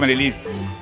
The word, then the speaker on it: Marilyz: Marilis, pero Marilis así como se escribe.